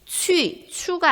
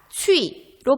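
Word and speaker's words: qu: 네, 추가 아니라 취로 발음해야 합니다.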